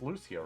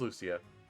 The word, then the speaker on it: Lucia: of princess valencia and am i getting her name wrong it's lucio right i'm gonna double check that um all right fire emblem lucio yeah yeah it is lucia um in path of radiance she has long